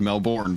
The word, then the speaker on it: Melbourne: the boat it is it is spelled melbourne but it is melbourne yes in the south